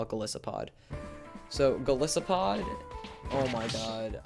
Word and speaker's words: Golisopod: So our honorable mention here is Golisopod, or Golisopod, however you want to pronounce it. I call it Golisopod.